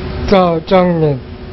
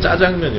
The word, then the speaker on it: 짜장면: 중국 발음대로 한번 읽어봐 주시겠어요? 짜장면. 짜장면. 네. 자장면이 맞아요? 짜장면이 맞아요? 짜장면 맞아요.